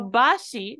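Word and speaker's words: ばし: bridge for me again so Bashi which is how it's read in this word is actually an example of rendaka This Is Us combining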